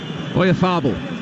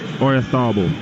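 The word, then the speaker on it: Oyarzabal: Oyarzábal. That way, yeah. Oyarzábal.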